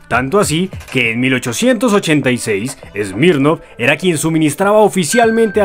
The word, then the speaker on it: Smirnoff: mercado, por lo que adoptó la pronunciación francesa para la marca, Smirnoff.